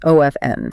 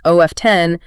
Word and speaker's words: often: When you drop that T, the word O-F-N links beautifully to the words around it, whereas O-F-T-E-N acts like a tiny speed bump in the middle of your sentence.